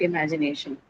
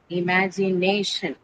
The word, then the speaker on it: imagination: So this is how you'll write imagination. imagination. So nay is the one which takes that's the penultimate or the second last syllable from the syllable which carries the shen suffix.